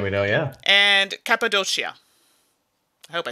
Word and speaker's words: Cappadocia: has one c because if it's two c's i believe it's like a ch sound in italian i'm gonna say it's cappadocia we're gonna go with that it has a double k in the pronunciation on the back oh so i was wrong completely cappadocia what part